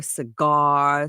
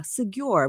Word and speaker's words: Segure: Segure rhymes with secure.